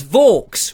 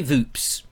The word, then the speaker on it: Vaux: And he said, it's Vaux, rhymes with forks. And, I have never forgotten that. So I will never get your name wrong. So there we are, Vaux. Vaux.